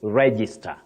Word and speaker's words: register: But then your last word you say you have the stress right at the onset the beginning of that word you say register.